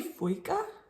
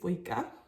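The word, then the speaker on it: Føyka: It's got the O with the dash through it, which I looked up and it makes kind of like a O sound. Ooh. I'm gonna say Foyka is how you say that word.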